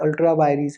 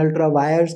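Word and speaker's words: ultra vires: Representation of people act अल्ट्रा वायरीज है एंड अल्ट्रा वायर्स कई लोग कहते हैं, some people pronounce it एज अल्ट्रा वायरीज, I believe the वायरीज इज the correct pronunciation but any which way whatever it इज।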